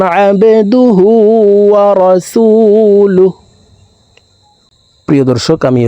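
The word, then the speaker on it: عبده: বাকলার হরফ নিচের দিকে ধাবিত করে ধাক্কা দিয়ে উচ্চারণ করব আবেদুহু ওয়া রাসুলুহ ওয়া আশহাদু আন্না মুহাম্মাদান আবদুহু ওয়া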